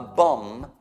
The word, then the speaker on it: bomb: Cioè, a bomb, scritto bomb, ma non si pronuncia l'ultimo B, è bomba.